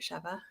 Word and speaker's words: Sheva: I am saying it correctly, right, Sheva?